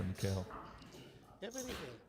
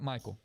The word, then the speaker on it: Michael: 13 big blinds now for Mikhail. Or is that Michael? Michael. Okay, 13 big blinds for Michael. I apologize, Michael. I've been mispronouncing your name the entire stream.